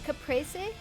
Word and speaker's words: Capri: I think the the pre and Capriy is closer to prey instead of prefix. Yeah, Capre, I believe, if you are pronouncing it in whatever original language it came from. But I grew up calling it Capri. So it's Capri.